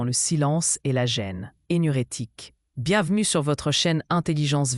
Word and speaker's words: énurétique: Énurétique se prononce énurétique.